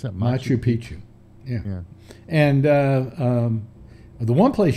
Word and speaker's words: Machu Picchu: How do you pronounce that? Machu Picchu.